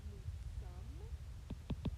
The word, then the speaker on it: nous sommes: Over here, nous sommes, S is silent, and it kind of sounds like the word some, as in they have S together.